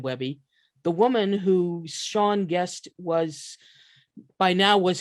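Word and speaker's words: Seagn: of carnival farm and how you pronounce her name is sean it's spelled s-e-a-g-n because her mother thought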